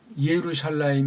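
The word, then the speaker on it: ירושלים: 원래 이게 예루샬라임 이렇게 해야 되는데 이게 접수사가 부잖아요. 부부되니까 앞에 걸 비로 해주면서 여기를 없애서 비루샬라임 이렇게 된 거예요.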